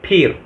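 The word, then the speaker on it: फिर: Dalam bahasa Indianya itu dibaca peer. Tulisannya PHIR, dibacanya peer.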